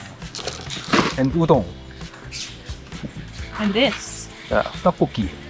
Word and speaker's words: 떡볶이: Yeah, 떡볶이. Why did they spell it totoki? That's true. I saw it on like TikTok and stuff. Some people started to pronounce it topoki in America.